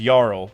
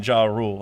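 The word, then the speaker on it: Jarul: Like like like how, uh, Yarl, uh, the the, you know, the Elbaf leader, his name definitely is Yarl, but everyone loves saying Jaw Rule, and I'm like, you know what, it's Jaw Rule.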